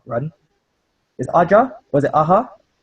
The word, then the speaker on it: Aja: Was it Aja? How is it? How is his surname pronounced? Does anybody know? I think it's Aja. Aja. Yeah, like the 80s band.